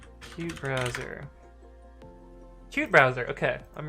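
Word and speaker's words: qutebrowser: screw it up where's the pronounce how to pronounce cute browser cute browser okay I'm right we good uh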